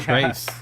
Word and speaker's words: Trace: Is that pronounced correctly? Yeah. Trace.